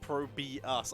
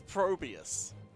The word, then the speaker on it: ProBUs: It's apparently, it is pronounced ProBUs. I missed the capital U. So it is ProBUs. Oh man, by 2 people. Feels bad. Yep, double call out. You're right. You're right. It is ProBUs.